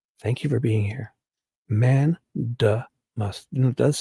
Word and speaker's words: mandamus: And Judy Wilkie comes in and says, it's pronounced like Mandamus.